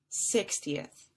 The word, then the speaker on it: sixtieth: that would sound similar 16th has two syllables and that second syllable was stretched out just a little bit longer than 60th 60th three syllables sixteenth sixtieth sixteenth sixtieth and then lastly as